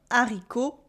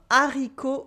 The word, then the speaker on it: haricot: You have a silent T at the end of haricot. We don't say haricot, but with what we call un H aspiré at the beginning. This is a rare instance where the H is silent but creates a cut. So there is no liaison.